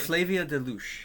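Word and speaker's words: Flavia de Luce: And the first book is it's a mystery series that I can't pronounce. Flavia somebody. Flavia Deluche.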